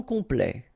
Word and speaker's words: complet: And then complet. Okay, here a T at the end will open it. The sound of the E.